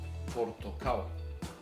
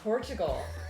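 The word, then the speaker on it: портокал: Portokal. Oh, like Portugal. Portugal. Almost. Portokal. Portugal.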